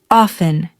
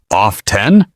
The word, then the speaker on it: often: Did you say often or off-ten? Here's the good news. Both pronunciations are widely accepted. Some native speakers pronounce the T. Others don't.